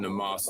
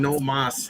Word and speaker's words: Namath: He was not on Namath's level, not by him. When you say it like that, I think you're saying no mas. Namath. He's Hungarian. It's a Hungarian name.